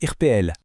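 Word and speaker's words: Yirpeel: Un mot complètement différent, Yirpuel, ça se prononce Irpeel.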